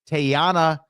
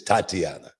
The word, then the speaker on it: Tatiana: Tayana Dumas got some. Is it Tatiana? It's Tatiana. Tatiana. Okay, I said it wrong.